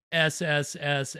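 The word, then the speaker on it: Sssssss: in the 70s called so I'm gonna say it just the way that it's spelled SSS but as the trailer will tell you um don't say it hiss it because it's a snake movie oh yeah one ticket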